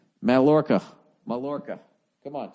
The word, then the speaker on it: Mallorca: How to pronounce Mallorca. Mallorca.